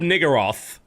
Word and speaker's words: Niggurath: One of the viewers had to leave, and before she did so, she dropped a level 16 Shrub Niggeroth, I believe.